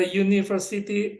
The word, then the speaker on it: university: Yang pertama atau kata benda yang pertama diawali dengan bunyi konsonan Y, university. Sementara umbrella diawali dengan bunyi vokal A.